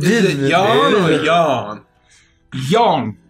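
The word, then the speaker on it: Yon: Yawn with an O. Y-O-N. Y-O-N. Oh, Y-O-N. So not yawn.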